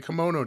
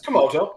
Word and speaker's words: Komodo: Like Utah is like fighting a kimono dragon. And somebody's going to correct it because I guarantee you I butchered the pronunciation of that. It's Komodo. That's how you say it.